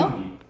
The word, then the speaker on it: 나뭇잎: 나뭇잎. 오케이. 어떻게 발음나? 마음. 자연스럽게 발음해보세요. 나뭇잎으로 발음나요. 나뭇잎. 그래서 니은이 덧나죠.